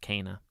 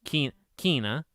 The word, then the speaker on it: Kana: No, it's literally Kana. They say Kay, and then na. So Kana. Which I originally said, what did I say? Kina.